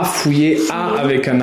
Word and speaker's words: fouiller: À voir, fouiller, tu l'as, F-O-U-I, 2-L-E-R, c'est un peu difficile. Fouiller, pour faire le son IE avec les deux L, fouiller.